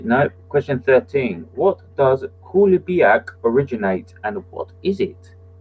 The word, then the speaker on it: Coulibiac: What does Kulibiak originate and what is it? So where does Kulibiak originate and what is it? And that is how it's said because I checked that. The spelling is Coulibiac. So that's where does Kulibiak